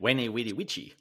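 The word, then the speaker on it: veni, vidi, vici: V or a W. Wene, weeny, witchy.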